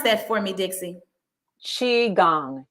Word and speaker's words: Qigong: Pronounce that for me, Dixie. Qigong, Qigong.